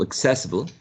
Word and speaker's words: accessible: yes guess what okay accessible has four exactly four syllables now um which one is the most prominent syllable which is the stressed syllable which syllable carries the primary stress the first so what do you think the first the second the third or the fourth syllable the second the second one exactly so uh we can